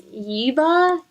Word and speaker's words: Yeva: Her name is Yeva, Y-E-V-A.